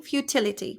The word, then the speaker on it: futility: English keep so futility futility futility futility right futility the stress is on the T futility futility futility futility